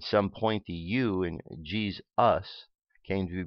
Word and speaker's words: Jesus: exists in English and second because the in English the S sound can shift to the Z sound which is what happened in the case of the pronunciation of Jesus ok so instead of s we have Z so jeez jeez ok the fourth sound